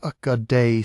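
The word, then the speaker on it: Ögedei: Ogade Khan pronounced Akad son and successor of Chingis Khan died in December 1241 in the political order of the empire that mattered immediately.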